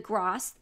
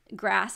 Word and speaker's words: GRAS: have and always use the grass grass I think is actually how it's pronounced but the GREs make